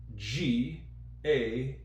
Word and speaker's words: game: In this particular case, the E at the end of a word is silent. It makes the A sound like itself.